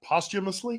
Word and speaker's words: posthumously: of them was posthumously posthumously yeah yes that's how you pronounce it posture but she said post because it's p-o-s so she said POS posthumously okay let me ask